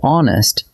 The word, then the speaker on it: honest: But hour and honest start with a silent H.